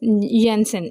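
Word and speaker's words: Janssen: उसके बाद ज़केरियस यसन ये जे नहीं बोलना वाई बोलना इसकी जगह प्रोनाउंसिएशन में।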